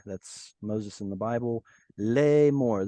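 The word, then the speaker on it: לאמר: Lemor, this is two syllables. The aleph here has quiesced. You can't pronounce aleph at the end of a syllable, so it's got no vowel attached to it.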